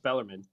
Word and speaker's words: Bellarmine: Everybody calls it Bellarmine. It's pronounced Bellarmine.